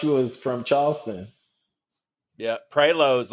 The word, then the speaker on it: Prioleau: Prileau? You missed Prioleau. Say it for me. How do you say it? Prioleau. Prioleau?